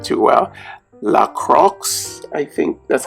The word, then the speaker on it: La Croix: this is a sparkling water that is called La Croix, I believe that's the pronunciation. I've been drinking this for a while now, and I still can't pronounce the name too well. La Croix, I think that's how you say it.